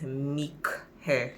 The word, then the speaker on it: Mic Hair: of this video and the name of the company is meek hair it's spelt m i see me care so the